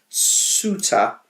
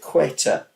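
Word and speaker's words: Ceuta: Bob Suta. When I first saw the name of it, I pronounced it Quetta, but it's not. It's actually pronounced Suta, apparently.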